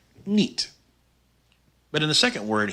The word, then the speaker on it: niet: The long I, spelled I-E, is pronounced E, like in the word niet.